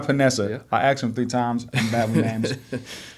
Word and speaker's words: Paonessa: name sure and how do you pronounce it it's panessa Vanessa I asked him three